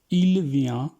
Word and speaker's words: vient: tu viens, tu viens, je viens, tu viens, il vient, il vient, टी हम एंड पे pronounce नहीं करते।